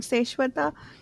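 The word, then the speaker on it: Seswatha: Seshwata. It sounds a lot like the Sanskrit word Shaswat, which is eternal.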